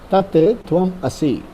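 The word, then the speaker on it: तत् त्वम् असि: Tat tvam asi.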